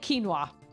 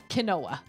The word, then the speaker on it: quinoa: Chipotle and quinoa. Cuz I pronounced it kinoa. Yeah, that was not smart.